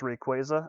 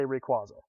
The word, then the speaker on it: Rayquaza: the pronunciations like i'm pretty sure it's pronounced rayquaza i say requaso get over yourselves i